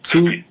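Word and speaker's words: Tubi: I want to say it's 2bi TV orb 2B it's pronounced 2B but it's tbii TV tub TV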